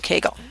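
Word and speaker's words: Kegel: Keele exercises, I pronounce them Keele. Some people call them Keagel. I don't know the doctor after whom they are named, so I'm not sure.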